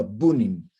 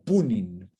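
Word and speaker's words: Пунин: Se llamaba Bunin o Punin. La P se pronuncia mucho como B.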